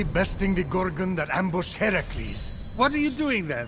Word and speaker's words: Heracles: phoenix after boldly besting the gorgon that ambushed heracles what are you doing there that thing with your voice heracles yeah that that is how it's supposed to be pronounced seems like a lot of work but